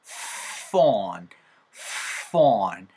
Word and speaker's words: phone: 스마트폰이 아니고 smart, smart, smart 하고 나서 PH 사운드는 F 사운드처럼 만들어주세요. 윗니가 아랫입술을 딱 물어준 상태에서 바람이 훅 하고 나오는 겁니다. 그럼 폰이 아니고 본도 아니고 어떻게 됐어요? phone, phone, 하면서 발음이 나오는 거예요.